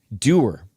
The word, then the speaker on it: Duer: It's spelled DUER, Doer, Built for Doing.